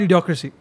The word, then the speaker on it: Idiocracy: was that your Chris if it rhymes with the democracy Maybe yeah yes it's called Idiocracy it's uh so what